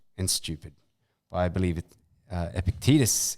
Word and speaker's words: Epictetus: I believe it, Epictetus is how you pronounce it.